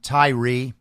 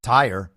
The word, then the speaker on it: Tyre: officers wife and apparently that's how you say his name Tyrie not Ty as it looks so apologies for saying Ty last week investigators are looking